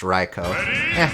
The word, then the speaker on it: Raikou: north wind in japanese it'd definitely be pronounced pronounced raikou fair okay so what